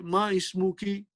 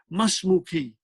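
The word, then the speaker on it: ما اسمكِ: You won't say ma ismuki. No, that is not a good Arabic. That will be a poor Arabic. Masmuki. This is the sign. Hamzatul wasal means we do not pronounce it.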